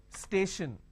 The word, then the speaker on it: station: For example, station. Now, when I have station, I have station. The tion, basically I can say shin. Station, right? So tion means sh.